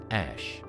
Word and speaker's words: Æ: A is a character pronounced ash and a 12 refers to their favorite aircraft, the Archangel 12, which Musk once called the coolest plane ever.